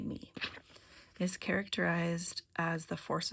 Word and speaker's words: me: Um which emphasized order, which is called the me. Sometimes pronounced may. I'm going to say me.